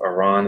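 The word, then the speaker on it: Arran: There's the Isle of Iran, I think is how you say it, A-R-R-A-N, Iran, Iran probably.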